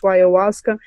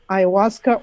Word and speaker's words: ayahuasca: This is no evidence that, he was doing anything wrong or that anything was related to ayahuasca.